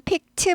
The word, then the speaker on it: picked: 과거는 picked 발음이 나요. picked up 아니고 picked up 트 발음이 납니다.